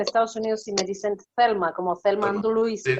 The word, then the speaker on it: Thelma: ¿Es Thelma o Telma? ¿Cómo lo pronuncia su nombre? Tengo la costumbre de pronunciarlo en inglés, por eso tengo más mi mente en inglés que en español a veces. ¿Es Telma o Thelma? No, Thelma, aunque Thelma.